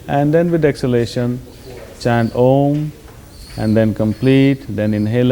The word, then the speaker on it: Om: But for instance, we will practice this mantra chanting with using the sound of om which is three syllables a u and m.